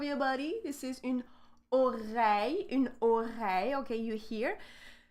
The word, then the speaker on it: oreille: So here, again, we have two sounds here with the letter I, okay? It's between the syllable re, like ore, and then it's with the ye sound, So we have oreille.